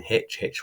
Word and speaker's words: Hitch: Baddeley and Hitch rhymes with pitch, who plays on pitches, rugby players, but also Schmidt et al.